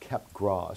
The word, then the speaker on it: Capgras: first namely a delusion kept grass syndrome sometimes pronounced capgras syndrome but i call it cap grass so this is the